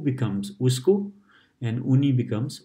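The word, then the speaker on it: उसको: And we don't say usako that much, we say usko, usko. The so in the middle is pronounced like half.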